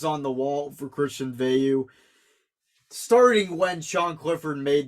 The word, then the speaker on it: Veilleux: And by the way, I've been saying it wrong. It's a Veilleux. I always forget. I call him Veilleux out of habit.